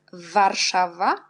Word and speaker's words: Warszawa: W, W, c'est une lettre W. On prononce V. V jak Warszawa, Warszawa.